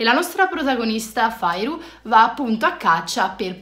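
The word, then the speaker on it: Feyre: Parla di questa ragazza che si chiama, allora si scrive Feire, però da come ho capito si legge Fairu, quindi parla di questa ragazza che si chiama Fairu, che vive in condizioni di povertà.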